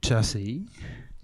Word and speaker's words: Gyasi: At last, after titling your last album after yourself, yeah, pronounce Chassi, we know more about the origins of your name.